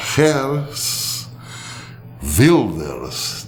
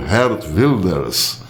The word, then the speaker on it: Geert Wilders: extremissimamente conservador, e indicará Geert Wilders, deve ser assim que pronuncia, escreve-se G-E-E-R-T, Wilders, mas parece, ao que tudo indica, lê-se Geert Wilders, que é considerado o Donald Trump holandês.